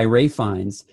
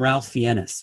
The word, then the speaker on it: Ralph Fiennes: movie, as played by Ray Fiennes. And a salute to all of you that still call him Ralph Fiennes. Because really, and L is silent.